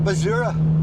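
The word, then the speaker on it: basura: So, for a little bit more detail, there's the IBI, your council tax, um, and the Bazura. I'm not great at pronouncing Spanish.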